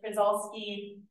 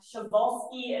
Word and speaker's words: Przewalski: weird word the top I know it's spelled like kolski some people call it that sholi is how it is said um so shol horse